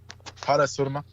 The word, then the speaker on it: Parashurama: of the god Vishnu, Parasurama, or how do I pronounce that correctly? Parashurama? That he was this ancient. Say that again. Parasurma. Okay.